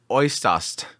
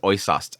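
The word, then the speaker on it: Äußerst: I've been avoiding saying this name, Oisast. I think that's the pronunciation is Oisast.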